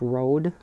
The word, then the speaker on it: Rode: same company, and it's, I believe it's pronounced Rode, R-O-D-E.